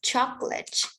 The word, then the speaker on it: chocolate: vegetables vegetable we have chocolate choc chocolate we have two syllables we don't say chocolate the chocolate to smell